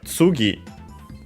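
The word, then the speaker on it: 次: So if when you choose uh Hajimeara so from the start then we have tugi uh I think actually accented on the uh tugi yeah accent on the last syllable uh here in this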